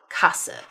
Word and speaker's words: Sparkasse: Then we also have 'st's and 'sp's that both have an 'h' sound inserted there so that you have 'sht' and 'shp' as in 'stop' (shtop). Or the bank 'sparkasse' (shparkasse).